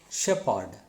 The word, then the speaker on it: shepherd: Some words PH is also P, not Fa. For example, SHE, PHE or D. It is shepherd, not shepherd.